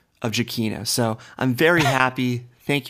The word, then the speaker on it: Giacchino: And Christian made sure to kind of confirm to Riley that it is Giacchino.